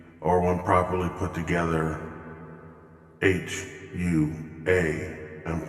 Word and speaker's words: HUA: u and h are one properly put together h u a and pronounced hua to understand the history of this